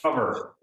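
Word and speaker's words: Qover: Q-O-V-E-R. Rick. Cover. Wow. Oh, Cover. There's no C in there.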